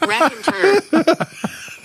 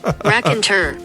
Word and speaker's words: Raconteur: Raconteur. Well, now that we know how to pronounce it. Raconteur.